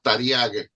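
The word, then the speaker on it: Taryag: mismo judaísmo que es que se pronuncia tariaga que significa seiscientos Trece no solamente Sí de hecho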